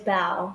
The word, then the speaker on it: Bao: So you adopted Bao. Am I pronouncing his name right? Yes, you got it. It's Bao.